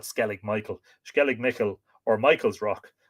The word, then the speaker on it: Skellig Michael: the baron rock called skellig michel or skellig michiel well it's m-i-c-h-i-l but we would call it skellig michael skellig nickel or michael's